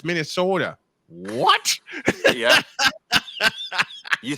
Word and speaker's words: Minnesota: of me and say look you're saying it wrong how do I say it you're not saying Minnesota it's Minnesota what yeah you sound